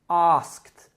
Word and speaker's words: asked: Or the verb ask, which in the past becomes asked, as if it was spelled A-S-K-T.